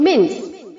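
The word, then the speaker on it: mince: इसे आपको कैसे प्रोनाउंस करना है? मिन्स में MIN के आगे जो CE है, CE को हटाकर S कर देना है, MINS। इस तरह से आप इसे प्रोनाउंस करेंगे, ठीक है।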